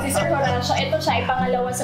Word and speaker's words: Horacio: Ayan, tama na talaga pag-pronounce si Sir Horacio.